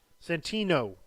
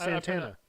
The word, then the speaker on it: Santana: Santino or Santana? Yeah, it's Santana. I pronounced it weird.